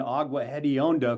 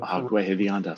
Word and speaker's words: Agua Hedionda: Not only that, David, you were able to pronounce the name of the lagoon, Agua Hedionda, Agua Hedionda, stinky water.